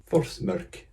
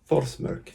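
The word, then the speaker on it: Þórsmörk: Watching Iceland with a view on YouTube, I figured out how to pronounce the weird P. It's Forsmörk. Forsmörk. I've never been to Forsmörk.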